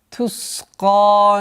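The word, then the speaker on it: تسقى: Тусқа мин айнин ания. Тус. Свист. Свойство свист нужно удержать. Тусқа. Твердое произношение каф.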